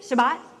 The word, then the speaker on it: Shabbat: If anybody there who knows the Bible better than mine, am I pronouncing it correctly? What is it? Shabbat? Thank you. I do it wrong every time.